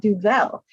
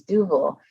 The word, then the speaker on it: Duvel: they want to argue with me how to pronounce dougal duval is not french it's not duvel if you want to call it do well you can but it's not french it's double and so a lot of times i'll just